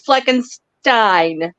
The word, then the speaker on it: Fleckenstein: It's Fleckenstein. Like Frankenstein. Shoot. Think the real deal, not the remake.